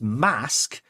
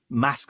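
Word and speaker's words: Masque: Um, but this time she gets Mask, whose Mask spelled with a Q.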